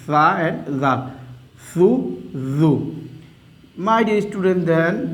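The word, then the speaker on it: ثُ: Okay, now my dear students, I am giving Pesh over this Tha, and you have to pronounce this one Tha Pesh Thu, Tha Pesh Thu, very softly.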